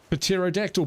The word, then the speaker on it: pterodactyl: The P is silent. Pterodactyl Ptark.